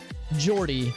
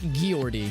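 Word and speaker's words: Geordie: it is so yeah jordy not not guillory yeah yeah with a soft g you can understand them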